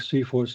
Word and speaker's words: CFIHOS: is a uh a an acronym to to pronounce feor something like that so we we came to the conclusion that it should be something like C force and that is what everybody says and jip stands for